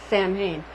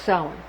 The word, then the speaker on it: Samhain: Again, it looks like it says, if you would say Samhain, but it's pronounced Samhain.